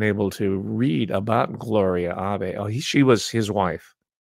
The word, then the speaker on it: Abe: Her birth name is Abe, A-B-E. It's not Abe, it's pronounced Abe. It's a Japanese name.